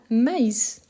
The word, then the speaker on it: maïs: Ici, c'est une opposition, on vient de voir, mais on a maïs. Donc ça s'écrit, c'est proche. Pourtant, à cause du tréma, on doit bien prononcer le i.